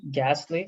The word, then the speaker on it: ghastly: like that not english there's an h there right gastly so gha okay then